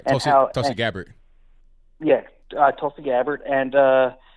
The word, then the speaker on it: Tulsi: guys were touching on this, that the whole Tulsi, I think that's how you say her name. Yeah, you're right. Tulsi Gabbard.